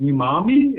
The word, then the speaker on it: umami: So I'm excited to test it out, see what the meat looks like, and see that they call it umami.